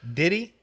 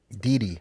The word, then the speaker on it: Didi: It's Diddy? Didi. Didi.